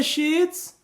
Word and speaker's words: sheets: Então sim, nesses casos, a letra I no inglês tem um som mais curto do que o duplo E. Então, muito cuidado para você não errar nessa pronúncia. Can you send me the sheets?